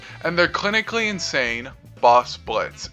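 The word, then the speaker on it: Blitzø: A part of the company is their receptionist Luna, married couple Moxie and Millie, and their clinically insane boss Blitz, and yes, the O is silent.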